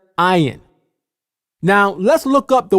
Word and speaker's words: ayin: and the vowel letters, the original sound this letter makes is I. Even today in modern Hebrew, this letter is called ayin. You can clearly hear the I sound at the beginning of the word, ayin.